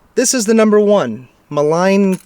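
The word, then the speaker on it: Maligne: And it's like, this is the number one, Malign Canyon. I believe that's how you pronounce it. It's M-A-L-I-G-N-E. So it's either Malign or Malign or Malign.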